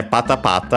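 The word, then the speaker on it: ぱたぱた: Yeah, pata pata, accented on the first syllable, so as per the rule, means the flapping of a flag fan, but also the fluttering.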